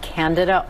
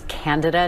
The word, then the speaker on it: Candida: particular a a newer type of fungus called Candida orus uh first reported out of Japan in 2009 by the way it's candada not candida a lot of people mispronounce that